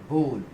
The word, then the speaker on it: bowl: इसको अक्सर लोग गलत प्रोनाउंस करते हैं और इसको वो बाउल कहते हैं. बाउल कहते हैं उसको, वो पूरी तरीके से गलत है. सही प्रोनाउंसिएशन होगा बोल.